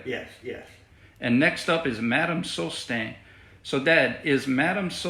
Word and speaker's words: Madame: Madame is Madam.